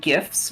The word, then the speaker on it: GIFs: It's pronounced memes and gifs with a hard G.